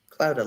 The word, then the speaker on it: Clouda: Clouda, like a cloud. Cloud with an A on the end.